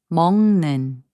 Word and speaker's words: 먹는: And 먹는, which means eating, is pronounced as 먹는.